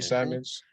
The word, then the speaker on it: Simons: And off the bench, you have like Covington and how do you pronounce his name? Simons. Anthony Simons, Anthony Simons.